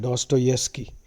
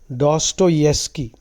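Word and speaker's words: Dostoevsky: a chatter box okay doki's characters that's the pronunciation doeski the V is y the wi is silent doeski doeski is a Russian writer philosopher thinker many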